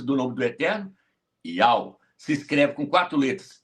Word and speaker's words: Yauh: A pronúncia exata é Ial. E a pronúncia exata do seu filho é Ial Chá.